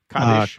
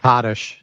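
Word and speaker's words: Kaddish: Kottish. Kadesh. Kottish.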